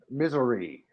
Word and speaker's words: Missouri: Missouri. That's how you pronounce it.